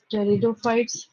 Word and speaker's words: टेरिडोफाइट्स: Then second is bryophytes, third is टेरिडोफाइट्स, P silent होता है यहाँ पे।